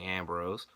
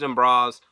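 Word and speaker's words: D'Amboise: Athena versus Ashley dembros which the way her last name is spelled I think it should be the Ambrose maybe that's just me being a mark and wanting to say Ambrose but they said it's in bras I'm going to do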